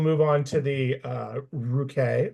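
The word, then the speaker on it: Ruchè: Then we'll move on to the uh ruk or rookie as uh Allison likes to call it, but hard hard C sound on that one.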